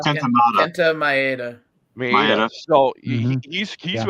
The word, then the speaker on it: Kenta Maeda: Minata? Kenta Maeda.